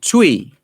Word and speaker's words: Twi: i think it's called try is it twice t w t w twi uh i think it's it's uh is it let me just look at the pronunciation guide here to see if it's yeah tui tui right so they spoke a